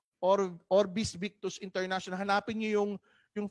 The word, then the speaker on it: OrbiX: It's X, pero we pronounce it as S, Orvis. Orbis Victus International.